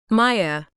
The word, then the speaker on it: Maija: Not Maija or Maija. Maija. Rhymes with playa like the beach in Spanish or fia like fire, she says, gesturing.